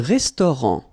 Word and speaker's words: restaurant: Un restaurant. Final T not pronounced.